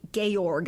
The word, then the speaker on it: Georg: it's fine it's look it's spelled like George but it's pronounced G gorg I guess but anyhow so then